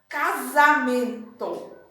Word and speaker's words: casamento: Quando eu falo a sílaba que tem o S, percebam que sai o som de Z. Casamento.